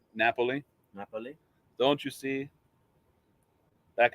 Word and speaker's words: Napoli: That would be the city of Naples, or Napoli. Question number 3. That's how they say Naples in Italy, isn't it? Napoli.